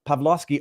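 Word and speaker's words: Pawłowski: Not to be confused with Pavlovski, Artur Pavlovski, pronounced the same way, but Artur spells his with W's. The Polish spelling.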